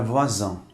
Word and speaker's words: voisin: Quando o S está entre duas vogais, pronuncia-se como um Z.